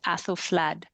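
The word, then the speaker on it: Æthelflæd: Um and it makes a kind of sound that's a little probably closest to like the A in apple. It's like a bit of an AE basically. I mean, we still use it in words like pediatrician, encyclopedia, but um it's got a slightly different sound, so it's sort of like an A, so it's Aethelflaed.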